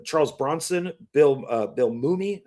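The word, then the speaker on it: Mumy: Bronson, Bill uh, Bill Mumie, I think Mumi, I think is how you say his name, from Lost in Space, uh, Verh Veronica Cartwright, Ron Howard, Ted Knight, and more.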